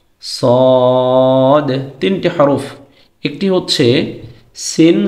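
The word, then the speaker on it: صاد: তারপরের সেটে হচ্ছে সিন, সদ। সিন এবং সদের মধ্যে পার্থক্য আছে। সিন এটা উচ্চারণের সময় জবর দিয়ে উচ্চারণ করলে সা হয়, সদ এটাকে জবর দিয়ে উচ্চারণ করলে স হয়।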